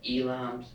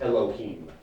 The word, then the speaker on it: Elohim: that so it says elam's king of Israel diplomatic if I may injection on Earth it's pronounced Elohim I'm sorry just for